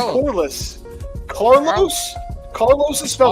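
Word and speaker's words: Corliss: __ ] bum and I thought you said Carlos to be fair I actually do remember Carlos Williamson thank you that's not pronounced car in what world is that pronounced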